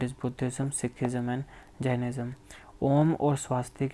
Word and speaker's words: ओम: ओम की जो right pronunciation होती है वो होती है आ, आओ, म। तो जब आप ओम बोलते हो तो इसकी जो सही प्रोनाउंसिएशन है वो होती है ये इसकी सही प्रोनाउंसिएशन है। पहले आ की आवाज़ आती है, धीरे धीरे आओ की, फिर आती है म की। ये इसकी करेक्ट प्रोनाउंसिएशन है।